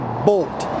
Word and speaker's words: Boldt: It's called the Winnebago Boldt, and just so you know, that's spelled with a D, B-O-L-D-T, and it's not B-O-L-T if you're trying to look it up.